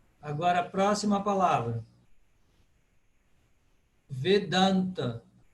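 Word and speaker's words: Vedānta: Vedanta. Por quê? Porque o da é longo. Vedanta.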